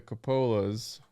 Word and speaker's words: Coppola: Because I was saying Coppola.